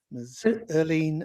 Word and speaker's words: Irlene: erleen mandrell this evening i hope i pronounced that correctly it is nigel i was going to help you but you got it right it's so weird to people because the spelling's so different well i don't really